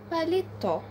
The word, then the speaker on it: Paletó: Paletó. Bom, é uma oxítona terminada com O, e então é acentuada.